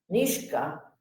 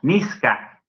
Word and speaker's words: niska: Nishka. No, Niska. Ah, Niska. Niska. ¿Pero por qué pasa esto? La palabra Nizak tiene una ne posto ya no a. Ah, El encuentro entre la Z y la K. La K ejerce influencia sobre la Z.